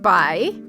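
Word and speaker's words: Bay: the addition of a random strange man named by the a wife so it looks like BAE but it you pronounce it by okay who is a Chancellor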